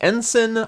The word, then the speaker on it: ensign: It is pronounced ensign. I was pronouncing it, well, I wasn't sure if it was ensign or ensign. It is sin.